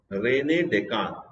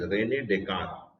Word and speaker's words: René Descartes: And that is given by a great philosopher whose name is, the pronunciation is René Descartes. But the spelling is Descartes. René Descartes, but the pronunciation is René Descartes.